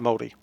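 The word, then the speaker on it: Māori: figure it out but the r being like eddie rather than re is uh difficult there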